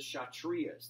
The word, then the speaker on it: Kshatriyas: them you have the shot Ria's the K is silent shot Ria's are warriors